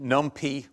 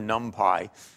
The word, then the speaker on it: NumPy: a package called Pylab, either pronounced NumPy or NumPy. You can choose your pronunciation as you prefer.